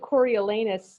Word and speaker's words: Coriolanus: See, I pronounce it Coriolanus Snow.